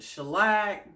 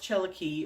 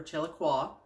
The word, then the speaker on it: Chellaque: listed in there, and they call it shellac. They just butcher that name. It is an Indian name, so it's pronounced Cherokee or Chellaque, whichever you prefer.